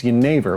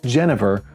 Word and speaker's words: jenever: The Dutch word for juniper is jenever, which is also the name of their juniper-infused spirit. When the British saw this, they pronounced it Genever, which eventually got shortened to gin.